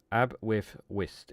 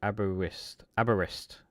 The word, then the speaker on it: Aberystwyth: But it is quite Aberystwyth is how you say it. Aberystwyth.